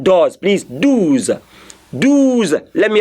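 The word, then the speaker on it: deux: dues not doors please Do's Do's let me how you say Do's a lot of students Make Mistakes by saying does it's not done it's do Do's Do's okay dudes I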